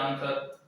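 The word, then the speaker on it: answer: जैसे कि example आंसर, ठीक है, इसे बोलते हैं आंसर, इसमें डब्ल्यू साइलेंट रहता है।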